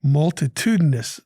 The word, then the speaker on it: multitudinous: to talk about today multitudinous the word of the day m-u-l-t-i-t-u-d-i-n-o-u-s five syllables meaning very numerous or